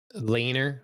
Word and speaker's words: Laenor: Laner? Laner. Okay. Do we not have it Yeah. on our list? How do you spell that?